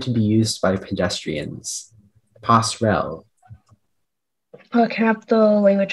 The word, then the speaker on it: passerelle: Speller 93, your word is passerelle.